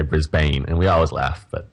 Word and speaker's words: Brisbane: of the a but people here say it Brisbane brisb I think every American come here and they say Brisbane and we always laugh but yeah well you